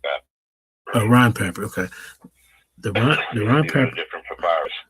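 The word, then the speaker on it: Rhind: It's the Moscow papyri, it's the Berlin papyri, it's the Kahan papyri, and it's the Rhine papyri. Rhine papyri, okay. The Rhine papyri, different papyrus.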